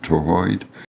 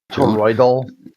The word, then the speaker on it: toroidal: Is that how you pronounce it? Toroid? Toroidal.